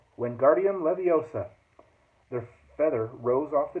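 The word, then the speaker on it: Wingardium Leviosa: much luck either when Guardium Leviosa he shouted waving his long arms like a windmill you're saying it wrong Harry Hermione snap it's when Guardium Leviosa make the GAR nice and long you do it then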